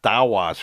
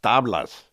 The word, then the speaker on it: Tablas: It's not Tawas from Florencia. It's Tablas. He's mispronouncing it.